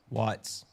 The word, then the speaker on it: Watts: Watts. The Watts. Rodney King. Rodney King. Is that what you're referring to? That's one of them. National Guard was activated. The Watts riots, too.